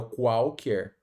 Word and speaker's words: qualquer: O primeiro QU, né, são pronunciados o K, o Q nesse caso e o U. Já o segundo QU, né, o U não é pronunciado, ó, qualquer.